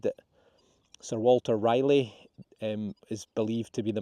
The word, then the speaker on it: Raleigh: tobacco to the UK, you've pointed out that I should have actually said Sir Walter Raleigh, I believe is how you pronounce it.